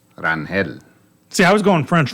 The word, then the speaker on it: Rangel: But actually, really and truly, it's supposed to be pronounced Rangel.